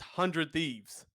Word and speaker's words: 100 Thieves: last week someone said we're not supposed to save 100 thieves it's just hundred thieves I remembered did you